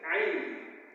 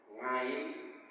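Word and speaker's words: عين: Kalau Bapak sekalian selama ini membaca huruf ain, tapi kok membacanya ngain, itu kan pada baik mangan, ngantuk, ya, ngopi, tapi kita sih beningan, itu jadi beningan, ya, nganggo ain beningan, itu huruf ain.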